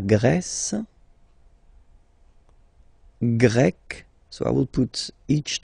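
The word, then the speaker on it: grecque: form GRE feminine form you write them differently but then if you listen carefully gre gre you pronounce them the same way okay Portugal portug portuges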